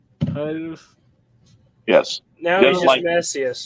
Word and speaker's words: Titus: It is, and if you're going to pronounce it right with the Titus, you need to pronounce it with Titus, not Titius. There is no E in there. Titus.